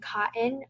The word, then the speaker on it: KOTN: Other notable mentions are Veta for women's apparel, 8A for women's office wear, and cotton, which is spelled KOTN, for basic tees.